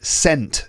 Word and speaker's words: scent: I'd be very impressed number two which letter is silent in the word sent like sent meaning perfume is it the s